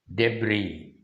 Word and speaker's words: debris: word now debris debris d b r i s debris yes he's silent here the meaning for the